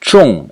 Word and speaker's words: 重: it is mostly pronounced Chong in the fourth tone and it means the